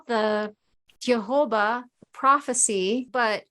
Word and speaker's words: Thiaoouba: So it's called the Jehovah Prophecy, but it's not spelled like it sounds. So it sounds like Jehovah.